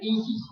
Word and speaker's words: Isis: Es el mantra de los misterios Chiago, que se pronuncia Isis. Se reparte en 2 sílabas. Así se pronuncia el mantra Isis. La S es como un silbo dulce y apacible.